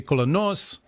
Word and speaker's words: Colonus: This is not revealed to them yet, but this is a place called Colonus, or in Greek it's actually Kolonos, is how you would pronounce it, which happens to be Sophocles' hometown.